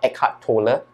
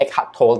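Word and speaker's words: Eckhart Tolle: highly recommend is uh eart Toler or eart to depending whether you pronounce it as German name or English name it's um The Power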